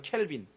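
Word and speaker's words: Calvin: 우리는 무슨 주의 비즘 프랑스 발음은 깔뱅 이라죠 깔뱅 칼빈 칼비니즘 영어 발음은 캘빈 프랑스어로는 깔뱅 칼뱅주의 칼빈주의의 특징은대 교리입니다 칼빈주의가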